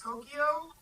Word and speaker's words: Tokio: It's Tokyo, but it's not spelled like the city, it's spelled Tokio.